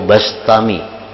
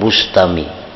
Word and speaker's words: Bistami: Yazid Al-Bistami atau Al-Bastami, membacanya Bistami atau Bastami, jangan Bustami. Jadi bi atau ba, karena dalam beberapa kitab ada yang mendabitkan bi kasril ba Bistami, ada yang bi fathil ba Bastami.